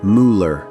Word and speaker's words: Müller: Here's what most Millers don't know. The umlaut in Müller, those two dots over the U, changes the pronunciation completely. In German, Müller sounds like Müller, not Miller.